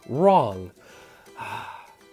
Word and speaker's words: wrong: of stinker right here at the beginning we got a silent letter so we're going to skip that very beginning silent letter and then go into ER ah right ER on so we have I would suggest skipping this sound here at the very beginning because it's silent we don't know what